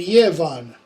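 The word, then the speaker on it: giefan: It's going to be the hard g, as in god, which is good, or the ya, as in yevu, gift, and yevan, to give.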